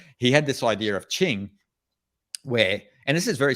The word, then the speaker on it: qing: daoism it's in chinese it's called ching uh so in romani in pinyin romanization you'd spell that q-i-n-g and so this idea